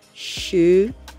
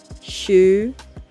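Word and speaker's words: 十: 10 is pronounced as shu shu shu it's a what it is a rising tone not the falling tone it is a rising tune it is not sure it is shu so at this point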